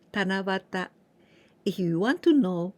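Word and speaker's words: 七夕: And this way of pronunciation is very unique. And only this one, like Tana here, 7, and you, 7 evening, but we pronounce Tanabata.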